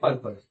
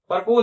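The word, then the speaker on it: purpose: ठीक है, फिर पर्पज। ठीक है, पर्पोज मत पढ़ देना इसको, ये पर्पज है, प्रपोज की स्पेलिंग अलग होती है।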